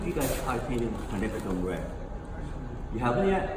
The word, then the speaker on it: quinacridone: How many of you guys try painting quinacridone red? You haven't yet? How do you pronounce it? Quinacridone red.